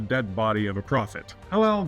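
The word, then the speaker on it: Helel: Hillel, by the way, is the more accurate pronunciation of Satan's name if Isaiah's rebuke to the Babylonian king has a dual meaning.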